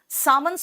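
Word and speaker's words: salmon: मैं उदय है ना सामन में एस हटा दो जब आप किसी प्रजाति की बात करते हो जैसे कटला हो गया रोह हो गया सामन हो गया सामन में एल साइलेंट है याद रखना तो एस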